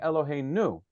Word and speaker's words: Eloheinu: So you might think that we should be saying Eloheinu, because quite often the last syllable is accented.